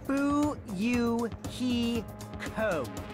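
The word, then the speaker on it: Fuyuhiko: name is my first name is pronounced boo Yoo hee ho I'm still an inexperienced member of my family's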